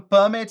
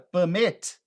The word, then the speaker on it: permit: Do you have a permit? Você tem uma licença para fazer isso? Agora, quando você muda a pronúncia dessa palavra para permit, olha a ênfase no final. Permit.